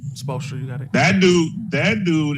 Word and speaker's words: Spoelstra: Spoelstra, you got it.